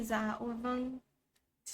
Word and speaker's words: vâng: That's when you say za or vâng, and that just means yes. So that's how you pronounce it, like that.